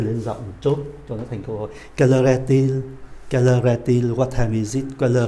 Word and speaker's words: Quelle heure est-il: "Quelle heure est-il", chúng ta có ba liên từ cho bốn từ này.